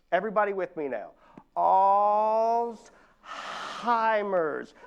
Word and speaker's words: Alzheimer's: It's pronounced Alzheimer's. Everybody with me now. Alzheimer's. There is no T in that word, y'all.